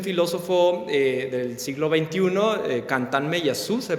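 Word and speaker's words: Meillassoux: él es un filósofo del siglo XX cantan me yasu se pronuncia es un filósofo francés Ah que justamente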